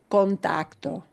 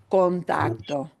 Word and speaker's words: contacto: So in contacto, the tac gets more punch, yeah, naturally, it gets more stress. But even though I've got other syllables that are unstressed, I need to pronounce that vowel in a very open way and clear way. Contacto, right? Not contact, not contacto, contacto.